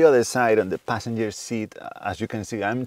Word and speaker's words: SEAT: This is a standard Seat Ateca from 2018. It is spelled seat in English, but it's pronounced Seat in Spanish. It's a Spanish brand.